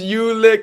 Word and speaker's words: Ulick: what's your name ulick you lick what I'm not licking anything that's probably what happened to that kid his whole entire life it's pronounced ulick in Ireland in Ireland as well a demon like I'm